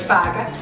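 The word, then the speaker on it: fokken: Yes, it's spelled like that, but it's not pronounced like that, so it's faga. Faga. Okay, it's basically F-A-K-A is going to be written down there, right?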